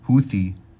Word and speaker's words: Houthi: Houthi truce splits allies. See how you, making sure I pronounce this right.